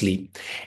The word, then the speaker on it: Sliiip: So the practice name is Sliiip, spelled S-L-I-I-P, but it's pronounced Sliiip.